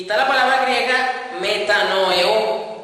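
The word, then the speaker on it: μετανοέω: Y está la palabra griega metanoeo, con acento en la O final, metanoeo, sin H intercalar ni nada, así pegado, metanoeo.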